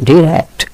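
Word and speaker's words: direct: ডিরেক্ট। ডিরেক্ট মানে কি? সরাসরি। ইনডিরেক্ট এবং ডাইরেক্ট দুটো উচ্চারণই হচ্ছে একটিভিটিস একটি আমেরিকান ডিরেক্ট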